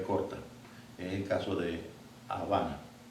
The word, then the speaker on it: Habana: Es el caso de Habana. Habana es un nombre de una capital, la capital de Cuba, y está escrita con B alta, pero se pronuncia con B corta.